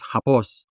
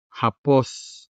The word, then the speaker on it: hapos: Another example we have here is the adjective hapos, which means easy. The consonant ha appears at the beginning of the word, and so it is clearly sounded. Ha, ha, hapos, hapos.